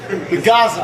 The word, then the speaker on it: Gaza: It starts with a G and rhymes with plaza. So Gaza.